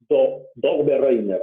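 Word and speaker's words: Döbereiner: Dobereiner, en 1817, acuérdate bien este nombre, la verdadera pronunciación es Dobereiner, algo así, a lo medio ruso, alemán, ¿ya?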